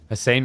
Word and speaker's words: Hussein: Hussein rhymes with big brain.